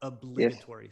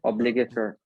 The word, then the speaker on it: obligatory: And one thing about And pronunciation, yes, obligatory. Stress on the li. obligatory.